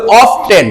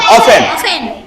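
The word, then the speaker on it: often: যেমন দেখ ও এফটিই এন আমরা যদি টি কে ধরে নেই তাহলে হবে অফটেন। কি হবে? কিন্তুটি ছড়ে দাও তাহলে কি হবে উচ্চারণ অফেন। অফেন। আমরা বলব অফেন।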